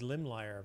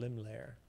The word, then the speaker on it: Limlair: I want to say his name is Limlier, but that just sounds bad. It's called Limlair.